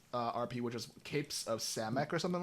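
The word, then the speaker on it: Samekh: I was considering joining Alice's RP, which is Capes of Samek or something like that. And I was reading through Samech, yeah.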